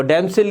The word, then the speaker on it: dame: डैमसिल का मतलब है गर्ल, DAME, डेम का मतलब है लेडी, LADY, लेडी, खातून, औरत, लाइक दिस।